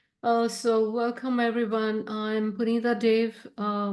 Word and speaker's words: Dave: welcome everyone I'm pun Dave uh my last name is pronounced like the way the way is say the way um but Dave is